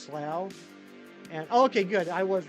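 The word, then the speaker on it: Slough: you call it Louisville there's a town in England called something pronounce it Kieran I will it's called slow come on now I am a huge office fan you think I don't know how to pronounce slow try harder next time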